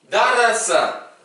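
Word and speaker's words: درس: Darasa. Attention, bien rouler les R.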